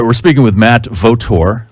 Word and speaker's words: Vautour: All right, we're speaking with Matt Vautour. I'm saying that right again, Matt, right? You are saying it right.